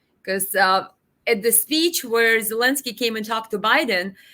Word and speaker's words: Zelensky: Biden mispronounced Zelensky's name. I think he called him Velensky, something like that.